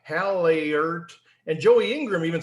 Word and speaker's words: Hallaert: And Joey Ingram even said like Hallaert. And so I kind of want to go right to you and say, what is the right pronunciation? Well, in my language, the Dutch language, it would be Hallaert.